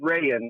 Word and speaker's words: Rayen: so yeah but you could call my name ray in like the fabric except okay okay ryan so yeah so you're